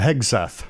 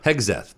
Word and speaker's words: Hegseth: And then I saw that um that Pete uh how do you pronounce that guy's last name? Oh uh Hegath. Hegseth.